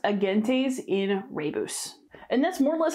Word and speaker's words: Agentes in Rebus: And then this one is pronounced Agentes in Rebus.